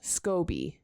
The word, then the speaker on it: SCOBY: SCOBY. That's what it says. Literally. Rhyming words have to end. SCOBY rhymes with Loki.